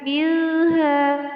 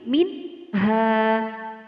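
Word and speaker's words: منها: Jadi nun mati di sini dibaca jelas. Minha, bukan milha, bukan. Akan tetapi minha.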